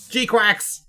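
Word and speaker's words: GQuuuuuuX: It's pronounced Gquax. G-quax.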